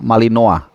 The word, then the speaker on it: Malinois: Belanda ya kalau nama istilah Perancisnya malinoa tulisannya malinois bacanya malinoa kalau yang Belandanya versi